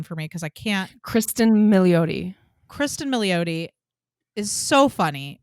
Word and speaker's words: Kristen Milioti: Kristen Milioti.